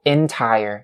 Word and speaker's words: entire: And also, the word entire, entire, the first syllable of this word has to be with the short E sound. So entire, not entire, right?